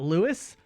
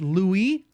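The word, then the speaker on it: Louis: you know that in in French they it's not Lewis it's Louie that's crazy that's crazy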